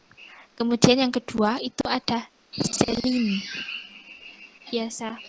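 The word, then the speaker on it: Céline: Kemudian yang kedua itu ada Celine. Biasa bacanya Celine. Bukan Selang. Karena di belakang N itu ada E. Biasanya itu enggak jadi eng. Tapi Celine. Karena di belakang N-nya itu ada E.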